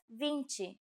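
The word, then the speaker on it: vinte: only Kinsey this is and finally we have Vinci Vinci okay now repeat after me I'll say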